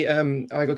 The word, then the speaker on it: Igor: How do you pronounce your name? Igor.